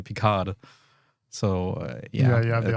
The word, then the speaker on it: Picard: in English you say Picard. So, you have the R. Yeah, but no, mainly the D, because in French you don't pronounce the consonant at the end.